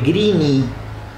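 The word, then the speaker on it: Greene: Y aunque el apellido de nuestro protagonista se escribe Greeny, se pronuncia Green, y él es realmente una criatura de otro planeta del color verde.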